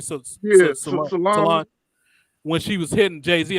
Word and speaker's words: Solange: How you say her name? Solange.